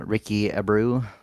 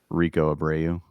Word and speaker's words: Rico Abreu: But maybe Ricky Abreu, or however you say his name. Rico Abreu.